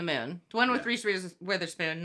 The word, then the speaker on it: Witherspoon: Rhymes with Please Hit Her Poon. Reese Witherspoon.